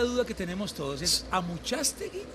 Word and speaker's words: Amuchastegui: Allá sí pronuncian el Amuchastegui. Amuchastegui.